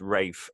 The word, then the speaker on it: Ralph: It's down in this text as Ralph. It's probably pronounced Rafe, and probably should be adjusted to be spelt that way.